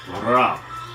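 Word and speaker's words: راء: So the first one is Ra. Ra. Rapper. Rock. Raymond. Ra.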